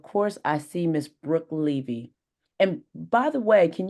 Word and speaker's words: Levy: I see Miss Brooke Levy and by the way can you tell me is it ly or Levy it's Le you're correct okay because somebody